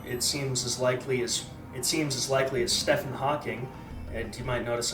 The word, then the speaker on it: Stephen: you might notice that I pronounce that with a PH because if his parents wanted me to say it with a V, they would have fucking spelt it with one, getting off to people with dwarfism.